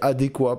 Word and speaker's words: adéquat: sais jamais quoi dire toujours admiré les gens qui disaient adéquat parce que je trouve ça très stylé ne pas prononcer le thé je me sens pas